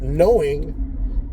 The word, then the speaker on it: knowing: You can have a word like knowing and throw a K in front of it. They tell you the K is silent.